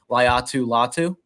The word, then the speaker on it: Laiatu Latu: Laiatu Latu.